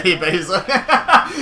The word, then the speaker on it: EBEZA: EBEZA. There you go. That's how you say EBEZA. It was the closest I could get.